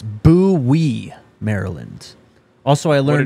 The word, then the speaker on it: Bowie: Matt says it's Bowie, Maryland. Also, I learned what did it's you say? Bowie. Okay. It's spelled B-O-W-I-E.